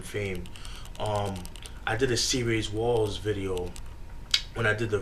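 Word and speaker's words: C-Rayz Walz: Instead of saying C-Rays Walls, I said C-Rays Wales.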